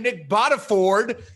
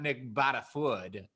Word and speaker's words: Nick Bottaford: and i was like what have i been saying this man's name wrong for the last four years and uh dear listener i have been doing just that so it is nick botta ford not nick bottafood how nice nick is